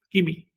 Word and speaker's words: kimi: En maya, kimi se dice morir, kimi, pero se escribe con C, en vez de con K. Ordinariamente lo escriben con C y eso en español se lee simi. Bueno, pues ya he encontrado mayas que dicen simi.